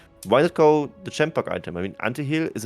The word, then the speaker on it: Chempunk: Chempunk English is, yeah. Actually, I just noticed it. Yeah, it's both CH, it's but like they are chemical. pronounced differently. Yeah, because it's like chemical and chain.